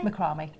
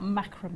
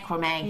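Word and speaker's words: macramé: Which do you say macarami? What do you say? Macrome. Oh, you are. Yes. I was just checking. Yeah. I wasn't checking. I wasn't saying it wrong. That's right. Not macra. I know that's the American way of saying it.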